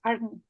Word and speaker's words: ARNI: So angiotensin converting enzyme inhibitors, they usually pronounce as ACE inhibitors, while, for example, angiotensin receptor neprilysin inhibitors, they pronounce as ARNI. And it would not be a mistake.